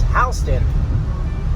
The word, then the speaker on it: Houston: It's spelled like Houston, so people get confused, but it is Houston.